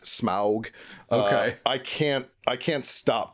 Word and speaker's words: Smaug: get to the Lonely Mountain, and you've got Smaug there at the Lonely Mountain. Yes. And this guy is just so sinister. Smaug's voice is so good, too. Richard Boone is the guy that played Smaug.